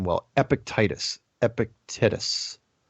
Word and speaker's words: Epictetus: name while epic Titus Epictetus EP epic and then te tus Epictetus epictetus whatever this doesn't